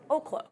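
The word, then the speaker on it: Oklo: I think we'll see if that can hold out for Oaklo. It is Oaklo.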